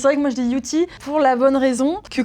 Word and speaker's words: Youthie: Alors, moi je dis Yuti et tout le monde dit Yusi. Et voilà, donc après, il n'y a pas de vérité, hein. Mais c'est vrai que moi je dis Yuti pour la bonne raison